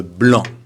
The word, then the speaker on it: blanc: Attention, petite difficulté avec le blanc, d'accord? Très important. Masculin singulier, blanc. On ne prononce pas le C, c'est pas blanc.